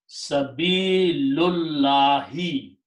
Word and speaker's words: Sabilullahi: And then you read them together without pronouncing this alif in between. So the word becomes Sabilullahi.